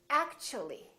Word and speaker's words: actually: The T becomes kind of a CH sound. So we say actually, actually. So the T and U create a new sound, and it sounds kind of like ch.